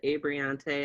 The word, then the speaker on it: Abreante: rundown okay so hi guys my name is abriante as he said and he pronounced it correctly i'm currently uh in my